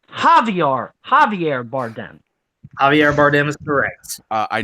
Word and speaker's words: Javier Bardem: a jte on that one and it is pronounced javi are Javier Bardem Javier Bardem is Perez I know that I